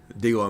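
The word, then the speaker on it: D'Lo: D-Low, Mississippi.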